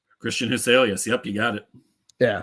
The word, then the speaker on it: Huselius: know how to say this guy's name Christian huselius Christian huselius yep you got it yeah so all all